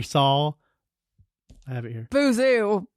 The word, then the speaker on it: Boozoo Chavis: Boozoo. Boozoo. But then we're like, is it spelled Bozo though? It is spelled Bozo. So we went to what's the Waterloo Records.